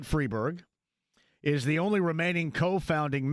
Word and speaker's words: Freiberg: David Freeberg, or maybe Freiberg in this case, I pronounce it Freeberg, is the only remaining co-founding member.